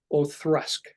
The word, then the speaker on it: Auchroisk: The one that tell me that is correct is one called, it's Auchroisk.